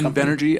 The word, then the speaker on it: Invenergy: Invenergy, I-N-V Energy. I-N-V We hear it pronounced all Energy.